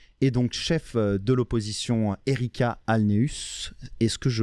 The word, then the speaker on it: Ericka Alneus: de Projet Montréal et donc chef de l'opposition Erika Alneus. Est-ce que je prononce bien ?